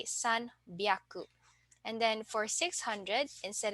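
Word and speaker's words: 三百: take note of so for 300 instead of saying Sun hyaku we will say s byaku and then for 600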